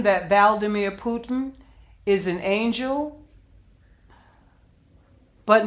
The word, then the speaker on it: Vladimir: it sounds similar but I think that's how you pronounce the president of Ukraine Vladimir so correction they're both their names are sound similar but they're pronounced differently so just a slight difference valdemir and Vladimir okay we'll get that part